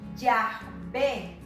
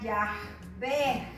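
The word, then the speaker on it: Yahvé: son dignos de pronunciarlo ellos pronuncian ya ve en él en el hebreo tampoco hay vocales ellos escriben puras consonantes escribe de derecha a izquierda y aquí vamos a ver la palabra ya ve que son las cuatro consonantes esta que es la y esta es la h esta es una vez y esta es una h y vamos a personas ya ve ellos así lo pronuncian es tiene un como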